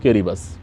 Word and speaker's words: Kiribati: किरिबस, या जिसे हम किरिबस भी बोलते हैं। ऑल्दो उसकी स्पेलिंग है किरीबाती, KIRIBATI, बट we generally pronounce it एज किरिबस।